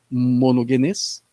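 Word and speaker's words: μονογενής: expliquei lá que o termo grego lá é monogenes, essa é a pronúncia, e eu expliquei rapidamente ali o que significava isso.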